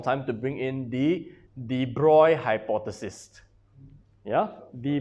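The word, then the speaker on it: de Broglie: to bring in the deploy hypothesis yeah the bra hypothesis this is in your notes it's pronounced as the broy hypothesis just like must belong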